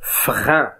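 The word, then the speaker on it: frein: مثلا إذا كان E مع E متبوعان بنون فلا ينطق N بل ينطقون أن أن، مثل فرين، فرين.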